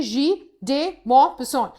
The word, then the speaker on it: Guy de Maupassant: देखो ये French story है। तो राइटर का नाम भी जो है ना वो प्रोनंसिएशन इसकी ऐसी ही होती है। जी डे मॉप फिसन।